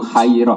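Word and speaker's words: خيرة: Saya ulang lagi ya, jadi baca yang benar tuh khairoh apa? Tapi kalau ada baca khiroh ya benar.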